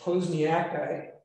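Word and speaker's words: posnjakite: mineral containing lead and sulfate go ahead and pronounce that one it's posniaki um which is much harder than the chemistry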